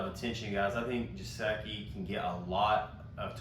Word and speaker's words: Gesicki: Also, I want to say, not a lot of people own Gesicki.